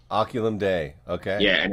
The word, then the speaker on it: Oculum Dei: How do I pronounce the band name? Oculum Dei. Oculum Dei.